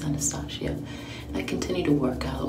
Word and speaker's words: Anastasia: also a good brand and it's anastasia i know i don't think it's anesthesia i think it's anastasia i continue to work